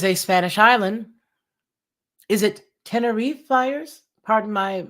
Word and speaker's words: Tenerife: already answered it gets so temperamental what does t-e-n-e-r-i-f-e spell okay let's get the pronunciation you Dingle bat you know this thing